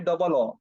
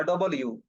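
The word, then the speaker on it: W: ওকে, তার পরবর্তী শব্দটি হচ্ছে, আমরা বলি ডবল ও বা ডবল ইউ, না, এটার উচ্চারণ বা প্রনাউন্সিয়েশন হবে ডাবল ইউ, ডাবল ইউ, ডাবল ইউ, ঠিক আছে?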